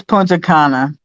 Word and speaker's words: Punta Cana: it's Punta Cana. He said, I'm pretty sure he said Punta Cana.